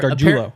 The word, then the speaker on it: Gargiulo: Also, one more thing I learned from that is that Frank Crum and Nick Gargiulo are Gargiulo.